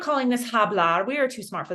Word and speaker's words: hablar: We know that this h is silent. So, you're only going to be hearing an ah sound to start each of these words, right?